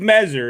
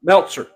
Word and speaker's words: Meltzer: people in the world dave messer is how you say his name right meltzer meltzer dave meltzer excuse me dave you're